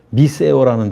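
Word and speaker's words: μισέω: 미하다라는 단어가 미세오라는 단어 있었어. 미세오. 미세오. 재미있는 단어줬어요. 미세오 이게 쓰 발음이잖아요.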